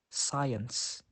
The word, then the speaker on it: science: example that doubt next the letter c is usually silent when it comes after the letter s for example muscle science now the letter D is